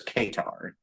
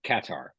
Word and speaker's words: Qatar: time like katar Airlines everyone usually says Kar or Qatar right yep so uh katar Airline says katar like that and I'm like okay well I guess you guys probably know how to pronounce it um so I flew